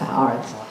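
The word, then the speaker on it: ארץ: of the sentence ha it's pronounced Arts right Arts he created the heavens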